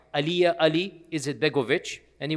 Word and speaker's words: Alija: Uh his name is Aliyah. There's a J in it but the J is pronounced Y. Aliyah Ali is Begoich.